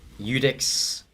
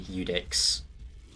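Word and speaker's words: Iudex: because i'm not an expert at this game eudex gundyr that is how that is pronounced incidentally eudix uh gundir i assume is just gun deer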